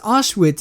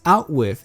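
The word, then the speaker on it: Auschwitz: mental disability I mean he pronounces ash wit as out with and the Fuhrer as the fury and he's corrected of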